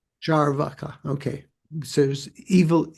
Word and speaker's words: Charvaka: should we say that there's a long a in the second a so is that more charvaka or charvaka paul I I think it's it's long but not but still evenly stressed.